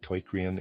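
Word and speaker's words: Teucrium: I'm pronouncing that torium. It's spelled to eu c i u m and readers aside.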